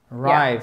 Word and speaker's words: arrive: Alors, chose très importante, c'est I arrive. Arrive. Yeah. Accent tonique, il est ici.